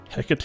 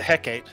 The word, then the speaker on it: Hecate: pronounce this might be hecate i've always pronounced it hecate well it's a word so that so if you're using greek pronunciation the e is enunciated so it's at least